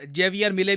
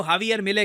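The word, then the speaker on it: Javier Milei: इनको इंडिया में हम लोग काफी बार जेवियर मिले भी कह देते हैं। वैसे जो करेक्ट प्रोनाउंसिएशन है इनकी अर्जेंटीना में, उनके मीडिया में इनको हावियर मिले कहते हैं।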